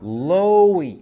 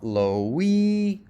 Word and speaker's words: Loey: Loey, you don't have a stress, so give yourself a stress. Stress syllables are higher, longer, and louder. Loey, not lowy.